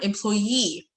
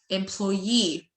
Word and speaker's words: employee: Number 1 employee. تاني employee.